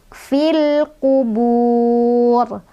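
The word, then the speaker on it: فِي الْقُبُورِ: Cara bacanya alif lamnya dibaca jelas. Fil kubur, kubur, bur, ro-nya dibaca tebal karena ro-nya jadi ro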